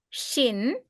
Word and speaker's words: shin: the right hand side that is pronounced as shin shin sh as in ship and uh the final letter to as in toy.